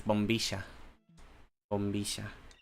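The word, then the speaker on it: bombilla: bisha yeah it's because in Argentina um they pronounce the Y sound like a sh stop skipping the cut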